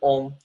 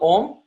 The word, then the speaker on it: Om: You see, there are 4 syllables to the Omkar. When you write the syllable Om, when you write it